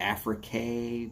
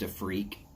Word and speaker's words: Afrique: the monte cristo afrique sometimes people say it's the africa but it's pronounced a freak it is crazy surprisingly